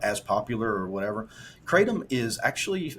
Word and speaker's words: kratom: the um the the I'm probably going to mispronounce it is it is it's kratom oh Kratom great you know Kratom uh here